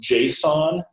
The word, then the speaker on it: JSON: a bunch of data via a is it pronounced Json yeah okay Json query or something just a